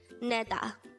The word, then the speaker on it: 내다: combine the angle for each of these two syllables to form the angle of the word neda again and then diket plus a that's neda